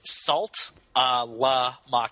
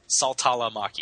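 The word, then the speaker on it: Saltalamacchia: i a you missed you missed the syllable it's salt a la Mak oh yeah salala Maki yeah okay uh let's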